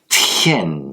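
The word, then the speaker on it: 天: comme un D, mais comme un T. Tien. Il faut qu'il y ait du souffle.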